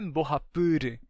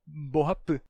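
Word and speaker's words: mbohapy: E a mesma palavra em Guarani é Borrapı. Não é Borrapur, é Borrapı.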